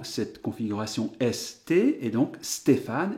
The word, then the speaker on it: Stéphane: configuration ST, et donc Stéphane, évidemment, va se syllaber, se segmenter, Sté, Fa, Ne.